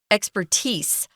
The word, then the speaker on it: expertise: uh knowledge in something expertise it can also be pronounced expertise but they use the z sound more than they do the S but they're both they're